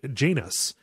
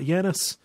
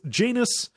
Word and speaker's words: Janus: is this guy named Janus that's how they pronounce it as not yanus you know it's not like the Greek god it's Janus like anus um is how they